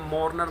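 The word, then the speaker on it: mourners: देखिएगा आर के बाद एन कॉन्सोनेंट है, इससे पहले वाउल है तो आर साइलेंट है। मॉर्नर नहीं बोलेंगे, मॉर्नर बोलेंगे, राइट।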